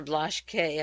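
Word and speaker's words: Blaschke: talked about him before blush K I guess in German you'd pronounce it he met with the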